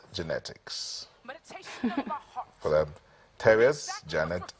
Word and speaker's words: Janette Ikz: She is Terrier's Janette X, pronounced genetics. For them, Terrier's Janette X, pronounced genetics.